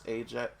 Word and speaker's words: Ajett: Like I'd found like I found that it was like a common Indian name, like but it was pronounced Ajett. So everyone Yeah. else keeps pronouncing it Ajett, and I'm like, no, it's Ajett.